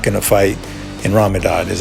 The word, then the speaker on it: Ramadan: We know Khabib is not going to fight in Ramadan, is how you say it.